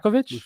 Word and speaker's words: Rajakovic: But listen, you bring in a guy like Darko, and I got to work on my pronunciation of his last name. I don't want to keep Darko Rajakovic? Yeah, Rajakovic.